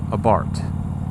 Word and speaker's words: Abarth: it, a Fiat 500 Abarth. It's actually Abarth, you don't say the H.